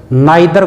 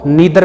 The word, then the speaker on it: neither: बोला जा सकता है, यानी आइदर को ईदर भी बोल सकते हैं, नाइदर को नीदर भी बोल सकते हैं। तो दोनों प्रोनाउंसिएशन सही हैं, यानी ईदर या आइदर, नीदर नाइदर, दोनों सही हैं।